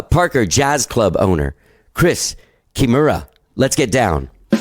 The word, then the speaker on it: Kimura: do you say your last name real fast kimura kimura all right yeah that's perfect um sorry just making sure i have the pronunciation written down right so i don't make